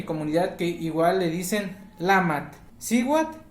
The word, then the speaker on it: Lamatl: Pero he escuchado por ahí en mi comunidad que igual le dicen Lamat. Siwat y Lamat igual a mujer, según yo.